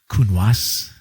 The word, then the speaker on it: Counoise: So I was just tasting it, Cotes Ciel, lovely wines, lots of Bordeaux varietals, a few surprises, a Counoise.